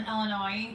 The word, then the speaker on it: Illinois: show you what to pronounce the s in illinois he does it to annoy me illinois he does it